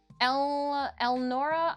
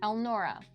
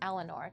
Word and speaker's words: Elnora: lonely uh no but El Nora oh I I said her name wrong elnora I forgive me I said Eleanor to begin with El Nora oh slap the back